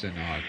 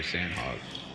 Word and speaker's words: Sanhok: Oh, I mean, it's Sanhok or Sandhawk. Sanhok, I think. Sanhok is how they pronounce it, supposedly.